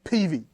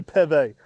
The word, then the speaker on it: Peve: peeves is when people say PV I don't know why oh just drives me nuts people say I want one of them PV manorettes one of them Peavey starfishes you know I might have said it wrong too but when I when I asked a time how they like to say it they did say Pepe so but yeah signature